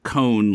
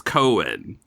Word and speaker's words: Cohen: up in New York pronounce it cone like ice cream cone and everybody else says Cohen has that been your